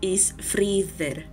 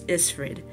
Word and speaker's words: Ísfríðr: The Eth is pronounced like the TH as we know it, but with a bit of a buzz.